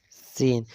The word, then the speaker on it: س: And when you will pronounce the seen, then simple, seen, seen.